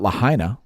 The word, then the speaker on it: Lahaina: on in China now let's talk about Lahaina because it rhymes with China China Lahaina and did you know